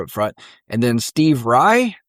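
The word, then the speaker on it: Righ?: And then Steve Rye, and I say it like that because it's got a question mark. Yep. It's RIGH question mark.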